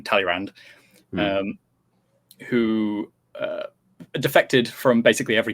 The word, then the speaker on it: Talleyrand: There was a government that was set up by, I'm just going to use the English pronunciation, Talleyrand, who defected from basically